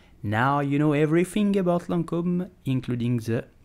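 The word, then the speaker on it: Lancôme: L'Oreal luxury product division so how do you pronounce it you will simply say Lancome Lancome hello foreign did you know that the name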